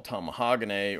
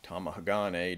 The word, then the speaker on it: Tamahagane: primitive form of steel, what the Japanese call Tamahagane, or Tamahagane, depending on how you want to pronounce it.